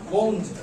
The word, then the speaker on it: wound: pronounce বলো কে পারবা একটা উঞ্জ আরেকটা ওঞ্জ মানে বাঁকা বুঝছো উঞ্জ মানে হচ্ছে কি ক্ষত W-O-U-N-D উঞ্জ মানে কি ক্ষত আর W-O-U-N-D এটা আরেকটা প্রনাউন্সিয়েশন আছে কি ওঞ্জ মানে কি মাক চিনো বাক